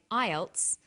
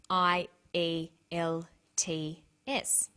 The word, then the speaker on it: IELTS: is called an acronym with an acronym we don't pronounce the individual letters we pronounce it as a word so we say IELTS not i l TS some other examples of